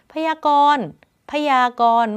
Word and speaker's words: พยากรณ์: ใน อนาคต ข้าง หน้า พยากรณ์ พยากรณ์ ไม่ ออก เสียง นอน เณร ก็ เลย เรียก ว่า นอน เณร การันต์ นะ คะ เหตุ การณ์ มี ไม้ ทัณฑฆาต กำกับ อยู่ ตรง เณร ไม่ ออก เสียง นอน เณร ก็ คือ ณ เณร การันต์ คำ นี้ ค่ะ อ่าน พร้อม